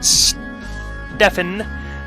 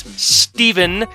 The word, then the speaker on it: Stefan: and their blind son stefan again i've said it if they wanted me to pronounce it steven they would have spelt it with a v so stefan 35 after